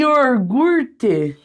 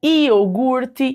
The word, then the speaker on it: iogurte: ali ó iogurte e yogurte puxando bem o meu R aqui Paranaense né yogurte Então esse R aqui ó do iorgurte ele faz também com que nós fujamos dessa dessa Perspectiva da ortoépia certo então é a ortoépia que vai definir que o certo é falar lagarto sobrancelha iogurte e assim por diante